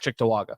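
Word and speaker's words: Cheektowaga: Chek Daga um yeah you say Chek Daga or you say chi Daga how do you say I say Chek Daga I say Chek Daga too I say CH too but there are people who say like Chi towaga chaga chaga yeah there's definitely people who say it like that yeah we have a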